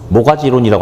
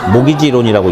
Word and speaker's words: 모기지론: 그리고 이제 MORT, GAG인데 여기서 T가 묵음이에요. 그래서 모가지론이라고 안 읽고 그냥 모기지론이라고 읽는데, 여기가 학원이 아니라면 이거 하나만 가지고도 되게 재밌는 이야기가 있어요.